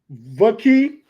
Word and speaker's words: Vaki: Vaki.